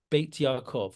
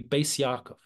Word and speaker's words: Beis Yaakov: ultra-Orthodox, Hasidic women's schools will be called Beit Yaakov, or in the Ashkenazis pronunciation, that no one will call it Beit Yaakov, by the way. You might have heard of Beis Yaakov. Have you heard of Beis Yaakov? Right. That the Ashkenazis pronunciation would be Beis Yaakov.